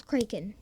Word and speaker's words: Kraken: plus octopus plus squid equals creakin or Kraken we're gonna fight over this pronunciation I see I'm not fighting over it I I liked saying Kraken not creakin you can say what you want but I know what I'm sticking with I'm sticking with Kraken